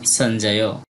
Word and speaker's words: সঞ্জয়: এরপর আছে সঞ্জয়, দন্তস্বরের উচ্চারণটা ছয়ের মতো, ইয়র উচ্চারণটা অর্ধেক নয়ের মতো, জটা পুরো হবে এবং পরে অন্তস্থ সঞ্জয়।